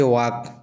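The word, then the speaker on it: walk: जैसे वाक। वाक का स्पेलिंग इस प्रकार से होता है और पढ़ा इस प्रकार से जाता है।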